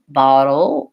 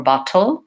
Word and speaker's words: bottle: that but knowing that if I say it with a dark L Seattle Oh bottle o versus Seattle or bottle I'm gonna really have more that American sound so thinking about the